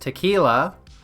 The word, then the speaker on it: TQILA: The Queer Insurrection and Liberation Army, or TQILA, pronounced tequila, has been set up with the motto, "These F-slurs kill fascists."